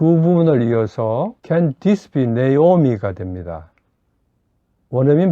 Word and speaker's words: Naomi: 다음으로 나오미는 네오미입니다. 두 번째 문장 전체 나를 나오미라고 부르지 마세요는 위 두 분을 이어서 Don't call me Naomi가 됩니다. 원어민 발음으로 들어보시죠. Don't call me Naomi.